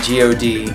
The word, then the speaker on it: G.O.D.: Their names are pronounced H.O.T. and G.O.D. even though they're actually acronyms.